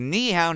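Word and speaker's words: 你好: You pronounce it by first saying ni, which is the same sound as a knife, then add hao, which rhymes with cow.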